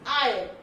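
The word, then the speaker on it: aisle: And next one इज आइल, अब ये है इनकी प्रोनाउंसिएशन, ये आई, इट इज आयल, ओके।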